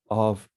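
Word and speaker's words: Ō: His family name, pronounced in the Japanese reading, is O.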